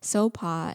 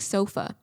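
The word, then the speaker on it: Sopha: parents gave me because sopa and you know the law culture the h is silent and so but it's spelt with the h-s-o-p-h-a so it looks like sofa in the american pronunciation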